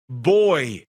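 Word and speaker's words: Buoy: From the Seattle Kraken, Boy. And it's spelled B-U-O-Y.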